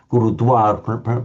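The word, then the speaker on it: गुरुद्वारा: So here we'd say, and then there's the place on the Ganges, the Gurudwar, literally the teacher's gate, the Guru's gate, Gurudwar, pronounced with a W.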